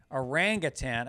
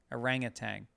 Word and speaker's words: orangutan: are rang arangatan orangutan a friend told me that I will always say it orangutan common mistake there is no g at the end yeah I've always said orangutan how do you say it yes I think I say it that way orangutan orangutang yeah but it's orangutan thanks Liz or at least